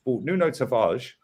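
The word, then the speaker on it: Nuno Tavares: you look here with nuno tavage yeah and it is the right pronunciation i asked kenny ken right he's great with his portuguese right so nuno tavage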